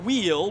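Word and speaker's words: Wiel: Again, it is Xander Wheel, but he spells Wheel W-I-E-L. So it's not like the W-H-E-E-L, which is how it's pronounced, but W-I-E-L for Xander Wheel.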